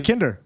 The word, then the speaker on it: Yekindar: Yekindar. That's not how you normally say it. That's how you say it FOR ME. WE'RE ALL trying to say that he says Yekindar.